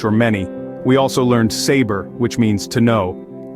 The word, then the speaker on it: saber: our sixth word is saber it's pronounced sa bear the B is soft let's say it together saber That's Right Moving On